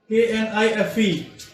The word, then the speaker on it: knife: Let's suppose there is a word K-N-I-F-E. So the correct pronunciation for this word is knife.